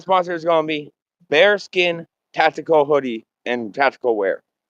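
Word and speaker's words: Baerskin: Now I am going to another sponsor and that sponsor is going to be bare skin tactical hoodie and tactical wear. Now bare skin is spelled B A E A R S K I N but it's pronounced bare skin.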